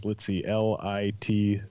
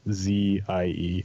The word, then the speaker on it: Litze: My last name is Litze, Litzzie.